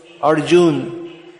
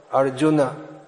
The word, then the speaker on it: Arjuna: a long u but because of dropping the a at the end it becomes pronounced as if it's a long these two words so the actual these words should be arjuna so indians could also